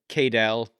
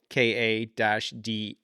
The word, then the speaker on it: Cadell: So Meryn, then Cadell, KA-DALL.